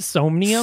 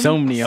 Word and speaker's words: Somnium: No, I have it on very good authority. It's pronounced Somnium. Somnium. So Somnium.